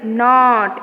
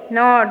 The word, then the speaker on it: knot: Knot. Knot. Not. This is silent. K is silent.